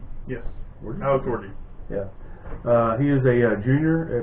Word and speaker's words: Orji: Michigan quarterback Alex, and I think it's pronounced Orji. Yes. Orji? Alex Orji.